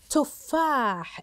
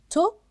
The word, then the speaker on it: تفاح: تفاح نلاحظها بالنطق بالكتابه تفاح تفاح تفاح تفاح اين الحرف الممدود التي تممت فاحنتم اذا حرف الفاء حرف ممدود وما هي الحركه المناسبه ممتاز اذا حركته الفتحه اذا مد الالف تسبقها حركه ممتاز حركه الفتحه وصوتها